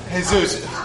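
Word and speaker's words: Jesús: think Sydney Manolo and Jesus who hey Zeus Manolo you don't pronounce the J J and the noan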